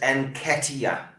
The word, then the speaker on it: Nketiah: Omar says Nketiah.